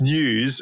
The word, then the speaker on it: N3W5: So news, so N3W5 pronounced news, okay.